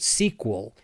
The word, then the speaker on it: SQL: schools access uses SQL sometimes people look at SQL and pronounce it sequel it stands for the